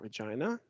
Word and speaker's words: Regina: i'll play uh regina oh we know about regina it rhymes with fun i'd rather steady because it